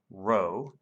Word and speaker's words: rho: going to label that with the greek letter rho this is spelled r h o and it looks like